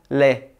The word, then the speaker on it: lait: Por isso que você não pode fazer o som do T no final da palavra lait, d'accord?